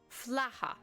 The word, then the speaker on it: flatha: Am I saying that right? Fla. Fla. No, And it's then just the plural, Flaha. Flaha. Okay, I was not saying it right.